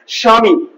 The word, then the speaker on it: স্বামী: স্বামী বা স্বাধীনতা এই যে স্বাধীনতা স্বামী দেখ স্বামী স্বাধীনতা তাহলে এই যে বটা উচ্চারিত হচ্ছে মনে হচ্ছে বয় একেবারে খন্ড একটু সর আমার কানে আসছে স্বাধীনতা স্বামী দেখো আমি বলছি না ব আনতে পারছি না